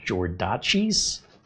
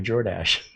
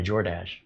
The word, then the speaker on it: Jordache: And I just thought, did you ever order from DoorDash? You should do it when you're wearing your Jordache. I got to do DoorDash in my Jordache.